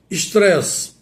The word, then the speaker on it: estresse: Mas em português, como devo pronunciar e como devo escrever? Estresse. E-S-T-R-E-S-S-E. Essa é a forma correta.